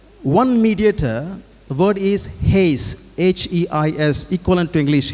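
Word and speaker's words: εἷς: So the word used over here, one mediator, the word is Heis, H-E-I-S, equivalent to English Heis, you can say, pronounced as Heis.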